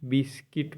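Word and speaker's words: biscuit: है न 11 है यू साइलेंट जब जी के बाद आठवा भवेल पहले आए तो यू साइलेंट रहता है बी आई एस सी यू आई टी बिस्किट पढ़ते हैं बिस्किट मतलब बिस्कुट होता है जी यू ए आर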